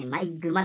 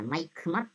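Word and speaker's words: 毎熊: ちゃんとしますね毎熊ね by 熊だと思ったマイク待って読むんだねっくまあこあこ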